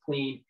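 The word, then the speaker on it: Klen: of clean it's spelled k-l-e-n people think it's pronounced clam but it's clean so you know it's a great product you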